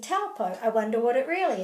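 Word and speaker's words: Taupō: Okay, so this together, this AU, is in Te Reo Māori will always be O. Because this is a consistent phonetic language, wherever you see the AU, such as in kauri or whānau, this is always going to be O. Now the reason that it's pronounced O is because it's actually au sped up.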